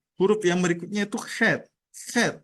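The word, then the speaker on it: חית: Head itu agak sedikit dimainkan gitu ya. C dan H-nya itu head.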